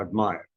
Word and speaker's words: admire: In admire is AD takes the emphasis stress. So admire. And it also indicates what part of speech.